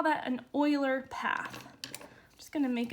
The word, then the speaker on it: Euler: would call that an Euler path I'm just gonna make a note here this is pronounced oil or right not Euler not like cooler so an Euler path